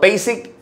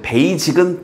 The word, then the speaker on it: basic: 그러니까 virtues, 이런 미덕은요, the basic, 그리고 이거 참고로 나올 때마다 얘기하는데 베이직은 틀린 발음에 가깝습니다.